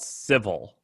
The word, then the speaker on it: Civvl: It's called Civil. It's spelled really dumb. Civvl.